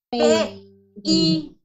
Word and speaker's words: pays: Ok, pregunta, ¿cómo se dice país? P-I. Y el acento en la última I.